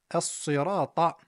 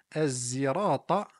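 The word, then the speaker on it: الصراط: Dans la sourate Al-Fatiha, lorsqu'il est dit Ihdina as-sirata al-mustaqim, il y a en réalité trois possibilités qui nous sont parvenues. As-sirata avec un sad, as-sirata avec un sin et enfin az-zirata avec un zay.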